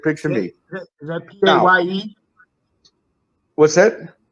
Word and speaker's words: Paye: Is that Paye? What's that? How do you spell his name? P-A-Y-E.